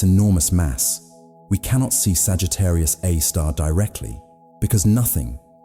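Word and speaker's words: Sagittarius A*: At the center of the Milky Way lies a super massive black hole called Sagittarius, a star, pronounced Sagittarius, a star.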